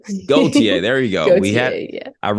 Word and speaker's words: Gauthier: It's Gauthier. Gauthier. There you go. Gauthier, yeah. I wrote it down phonetically and still tripped up on it.